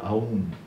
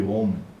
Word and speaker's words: Om: e se lê om nunca se pronuncia a um a pronúncia é sempre om e por De onde